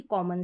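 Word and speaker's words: comb: ये कॉमन spelling है एम बी रहेगा तो हम इसको म पढ़ेंगे कैसे जैसे कॉम पढ़ रहे हैं क्या पढ़ रहे हैं कॉम अब यहां पर उच्चारण तो म एम का ही है लेकिन बी क्या है यहां पर साइलेंट है वैसे हम कॉमिनेशन को कह देंगे कि एम बी को हम क्या पढ़ रहे हैं म लेकिन यहां पर कॉम ब बी का उच्चारण नहीं होता है बी साइलेंट रहता है अब यहां पर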